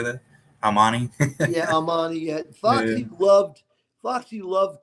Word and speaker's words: Armani: Armani?